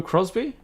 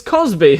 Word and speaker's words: Cosby: Was it Bill Crosby? Wait, is it Crosby or Cosby? Bill... It's Cosby, isn't it?